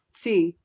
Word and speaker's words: Sze: Hope, but how do you say her last name? C, like it sounds like TSE, but it's spelled SZE or SZE if you're American.